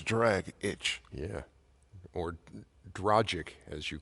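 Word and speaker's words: Dragić: lot I agree I I always thought it was dragic and drit like drag it but it says d r a g i c that's drag itch yeah or dragic as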